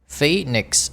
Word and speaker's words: Phoenix: At lunchtime, the McDonald's at Mumbai's Phoenix, chúng ta đọc là hai âm y, Phoenix Mills, a big shopping center, is full of college students, mothers and office worker.